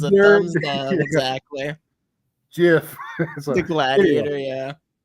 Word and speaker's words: Jif: Except when we start talking about the correct pronunciation of Jif, it'll probably wake up.